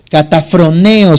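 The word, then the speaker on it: καταφρονέω: Dice K-A-T-A-P-H-R-O-N-E-O. Catafroneo se podría pronunciar.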